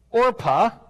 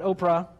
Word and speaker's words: Orpah: marry two Moabite women or PHA not Oprah you've got to say it right or PHA and Ruth